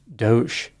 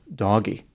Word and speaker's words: DOGE: It's pronounced Doge instead of Doggy.